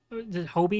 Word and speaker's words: Hobie: Hobie is how they say his name.